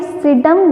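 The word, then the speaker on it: Psidium: यहाँ पर P silent है तो इसको क्या बोलेंगे, सीडम गुआजावा।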